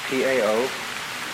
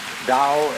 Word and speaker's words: Tao: T-A-O, pronounced Dao in the Mandarin dialect, Tao in the Shanghai dialect, To in the Cantonese dialect.